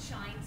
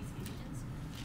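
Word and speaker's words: Schijns: It's spelled S-C-H-I-J-N-S, so it sounds like it would be Ephesians, but it shines.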